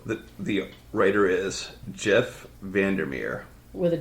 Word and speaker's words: Vandermeer: that way too quick v-a-n like a van der as in dur and Mir m-e-e-r m-e-e-r when you said Jeff